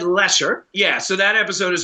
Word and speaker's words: Leicester: which is spelled uh it looks like lycuster but it's spell it's said lesser yeah so that episode